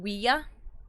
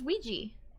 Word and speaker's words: Ouija: It's pronounced Wia. Wia? The French and German words for yes. Really? Really? Truly? I never knew that. I always thought it was Ouija.